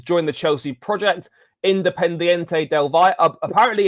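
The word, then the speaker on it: del Valle: Independente Delva. Apparently it's Delva, not Delv Valor. I I pronounced it as Delvalor in in a video and someone picks me up on the pronunciation.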